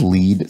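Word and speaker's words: lede: obscure for a monday this is lead spelled l-e-d-e i don't really know how this sort of thing evolved but in journalism slang in written journalism slang there's a convention of spelling certain words like lead lead meaning the sort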